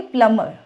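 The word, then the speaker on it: plumber: है आप क्या बोलोगे प्लमर प्लमर तो आर मत बोला करो आप सिर्फ उसकी साउंड दिया करो हल्की सी तो उससे क्या है उसका एक्सेंट सही आता है वर्ड का बोलने में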